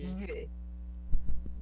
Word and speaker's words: 月: Só essa parte do yue, pronunciar yue, Yue. yue. E O U ele é mais próximo do I do que o U de verdade. É quando você fecha mais a boca pra falar. Então fica yue.